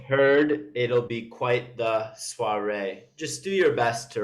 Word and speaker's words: soir: Soir. It's like noir, if you know. Have you seen like a type of wine called Pinot Noir? No. I don't actually know how the first part is pronounced, but it's pronounced, the second part is pronounced noir. Soiree is, we'll go over it later.